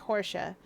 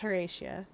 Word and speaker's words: Horatia: I tried to pronounce that Portia for a second, like Hortia, but that's Horatia.